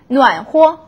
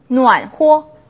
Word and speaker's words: 暖和: 暖和, 暖和, 호라고 경성으로 발음이 나죠.